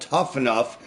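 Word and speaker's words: Tuff N Uff: promotion in Vegas called tough enough it's not spelled like it's phonetic it's spelled t uff n uff and Edie was nice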